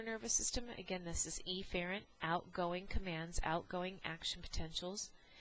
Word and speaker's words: efferent: and enunciation so um I am going to say aent so you can distinguish between an incoming command versus eent or efferent which is an outgoing command so your incoming sensory